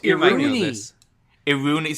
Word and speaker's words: Iruini: Did you So- say Irurini? Yeah, that's how it's spelled. Leo, it's you might know Iruni. this. Iruni, so it's a silent I.